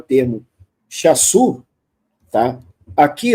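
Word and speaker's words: Shasu: Aqui, ó, o Chasu, pessoal, esse S aqui, que tem um acento invertido, na verdade é um Shin, tá? É um Shin que corresponde a SH, por isso a pronúncia é Chasu, tá?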